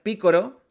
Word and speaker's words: Piccolo: doblaje latino se fananan de que Picolo en latino se se pronuncia Picoro, que viene del japonés Picoro. Piccoro, ¿no? Pero lo correcto, creo que en este caso es Picolo en en el doblaje español de España, porque lo que está